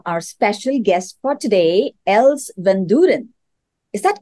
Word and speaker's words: Els Vandooren: And with that, I would like to welcome our special guest for today, Els Vandooren. Is that correctly pronounced?